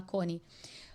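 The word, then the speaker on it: Chonae: Então é conhecido como a a o milagre de coni, porque coni, né, se se escreve c H o N a e conai, mas se fala coni, significa abertura na língua que eles falavam que eu acho que era a língua turca, né?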